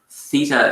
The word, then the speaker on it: theta: a bit funny um but it's pronounced uh steven spelled it out there that's useful so theta but being irish i don't pronounce my th is very well so i'm probably going to train you badly here but um theta is how it's pronounced with a t-h-e-t-a uh it's a great